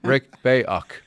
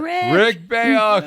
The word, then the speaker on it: Rick Bayuk: Let's make sure we can pronounce his name right. Rick Bayuk. Got it. Rick Bayuk.